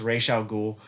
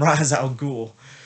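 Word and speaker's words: Ra's al Ghul: him back and i know his name is pronounced ray xiao ghoul but in the film they they call him raz al ghul um killian murphy as scarecrow dr crane is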